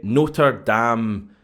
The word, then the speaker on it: Notre Dame: for us here at Notre Dam Stadium I'm just pronouncing that the the American way and Southbend Indiana and